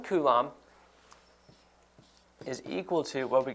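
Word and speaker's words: coulomb: Now electric charge is measured with the unit kulum. And so it is spelled like this. C O U L O MB and we can abbreviate it just with a capital C like that. So 1 kum is equal to what we could say is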